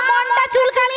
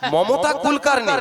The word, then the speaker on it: মমতা কুলকার্নি: হ্যাঁ রে, না, মনটা চুলকানি নয়, ভক্তরা বলেছে। তুমি তো শুনবে, ওটা হবে মমতা কুলকানি। মমতা কুলকার্নি।